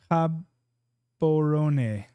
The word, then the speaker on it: Gabon: like in the 50-50s cabor cabon cabon cab habon okay that's the pronunciation I like that sweet thanks Peter Gabon instead of just saying Gabon like I'm sure